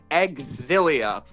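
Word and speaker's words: Xillia: It is in fact pronounced Exilia. Like that's or at least that's how the English localization team has been pronouncing it.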